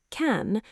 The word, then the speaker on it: can: Can, strong form rhymes with man. Weak form sounds like kn, barely a vowel at all.